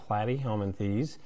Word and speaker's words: Platyhelminthes: with the flatworms that's going to be phylum platyhelminthes and you can kind of remember that plait rhymes with flat so some of the key